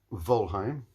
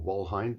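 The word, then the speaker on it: Wolheim: But Louis Volheim, or Walheim, depending on how you want to pronounce it, born in 1880 and died in 1931.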